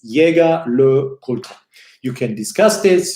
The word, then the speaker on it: Jaeger: do what you want but I will continue to pronounce his Yaga Lakota I say Yaga in a more German way and look older in